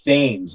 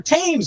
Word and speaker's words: Thames: put it on but i said the river thames like an idiot because i was like 16 and i mispronounce it and he's like oh yeah it's a river teams don't you know that well you really know